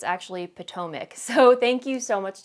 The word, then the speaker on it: Potomac: I always say Potomac, but it's actually Potomac.